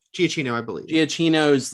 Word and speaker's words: Giacchino: Giacchino, I believe.